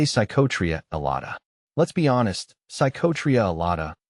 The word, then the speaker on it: Psychotria elata: isn't too difficult though break it down like this sa Tria Ela but if you find